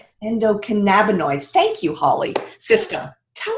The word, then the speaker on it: endocannabinoid: So you mentioned earlier that we all have this, and I don't know if I'm going to be able to pronounce it. Endocannabinoid. Endocannabinoid.